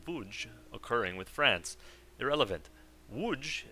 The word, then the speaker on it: Łódź: Łódź is actually pronounced nothing like Lodz, it's more like Łódź.